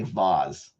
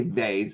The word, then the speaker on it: vase: and you also say vase but for anyone who says vase I'm talking to you wait a minute it's vas it's a z I know it's spelled with an S some people say vas